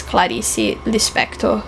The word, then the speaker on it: Clarice Lispector: Please do read Clarice, and I pronounce her name as Clarice Lispector, as we do in Portuguese, in Brazilian Portuguese, because otherwise I feel that it would seem like an unnecessary affectation.